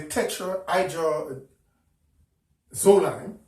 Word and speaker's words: tetrahydrozoline: Visine brand, which is chemically tetrahydrozoline. Some other people have some other pronunciation for it. I just pronounce it as the word. It's tetrahydro. Tetra means 4, hydro, water, and zoline.